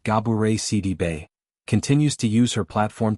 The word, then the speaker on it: Gabourey Sidibe: Gabourey Sidibe, pronounced Gabourey Sidibe, continues to use her platform to share truths, big and small, with humor and grace.